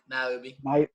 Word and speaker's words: Niobe: Nyoobe or Newbie Niobe, or Niobe, Niobe? Okay, so Niobe. Niobe.